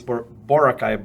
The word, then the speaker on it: Boracay: Yeah, the foreigners would often read it exactly the way it was written. So it's Boracay, but the locals would call it Boracay.